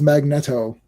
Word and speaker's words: Magneto: Chris Claremont still says it's Magnetto. Oh yeah, Magneto.